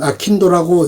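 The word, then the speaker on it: 商人道: 강담소가 생겼다 그가 제시하는 상인도 일본으로는 아킨도라고 읽는 경우도 경우가 많다 상인도는 현대에 와서 발간의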